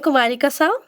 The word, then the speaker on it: Kumarika Sau: statistically that's okay yeah so yeah I am Kumari Kasa I am from India um I have done